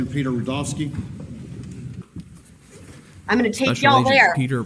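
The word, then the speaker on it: Rudofski: for this like Peter rovski I'm going to take Peter rovski that's Ru d o FS Ki and it's pronounced Rudolph and then ski all right special agent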